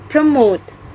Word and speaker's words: promote: fifth word is promote the point ethics of this word is promote promote the stress is located on the second syllable and the meaning of